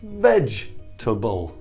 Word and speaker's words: vegetable: but this is wrong because this vowel e is silent but if you look